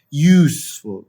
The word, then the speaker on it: useful: I have a ah this one the u is sound like u you yeah useful we don't sayful yeah we don't say full yeah we say you so the sound of you so we use because